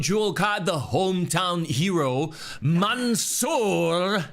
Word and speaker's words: Mansoor: Kicking off the Crown Jewel card, the hometown hero, Mansoor. Can you roll your R's? I can't do the roll. Oh, I can do it. Yeah. Mansoor versus Mustafa Ali.